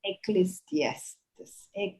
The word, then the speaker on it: Ecclesiastes: They are from Ecclesiastes, however you pronounce that. How do you pronounce that, Madeline? Ecclesiastes.